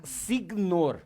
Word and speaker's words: signor: Che la sei scritta signor. Signor, sì, perché Signor. il GN del italiano è come NH del del brasiliano.